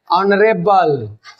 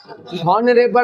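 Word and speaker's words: honourable: ऑनरेबल। ऑनरेबल आता था ना, पढ़ाए थे ना कि अगर एच अंडरस्टूड हो, साइलेंट हो, उच्चारण में भावेल आ रहा है तो क्या लगाते हैं?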